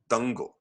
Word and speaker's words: Dangal: And I now a good segue to the movie you introduced me to, which was called, how do you even pronounce it? Dangal.